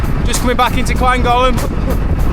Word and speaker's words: Llangollen: Just coming back into Llangollen. Sorry, Llangollen, that's how you say it in Wales.